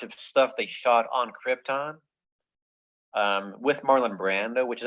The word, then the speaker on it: Krypton: So anyhow, the deal is in Superman, Marlon Brando, he makes his money, and he says Krypton, and he puts the emphasis on the first syllable.